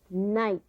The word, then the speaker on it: night: like in the word night now what does the IG H sound like I write the long I sound night sight and you